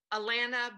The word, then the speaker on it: Allana: And so and she told me before we got on how to say her name. Allana Banana.